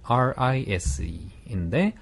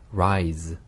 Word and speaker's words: rise: 16번 단어는 RISE인데 스펠링은 마찬가지 Z 발음입니다. 그래서 rise, rise, 네, 아, 올라가다 그런 뜻이죠.